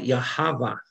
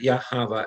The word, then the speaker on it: Yahweh: When it starts to appear, you can see it's called Yahweh, because in some circles of Judaism, the H is silent. When you look at the word Yahweh, everybody can spell it?